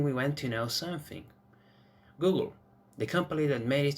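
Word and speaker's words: googol: name to google after a mathematical term which sounds just like google but it is spelled g o o g o l google however the company itself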